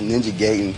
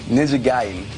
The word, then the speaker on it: Ninja Gaiden: i'll be pronouncing them i thought it was ninja gaitin but ninja gaiden it's like one of